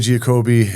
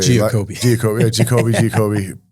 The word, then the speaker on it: Giacobbe: Giacobbe is a Giacobbe. Pronounced correctly both ways.